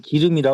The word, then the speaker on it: 기름: 옛날에 기름이라도 안 해 우리 시골에서 지름이라 그래 지름 지름지름 지름 지름 지름 어 발음이 좀 잘못된 거지네 사투리 아 지름 지름 떨어졌냐 그러거든요네 서울에 오니까 기름이라 그러더라고네 충청도는 지름이라 그러더라고요 지름 어 어 어